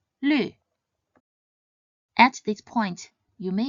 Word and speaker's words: 绿: When this pinyin is pronounced in the fourth tone, it means the color green, 绿, 绿.